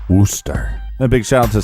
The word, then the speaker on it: Worcester: I think it's pronounced Worcester.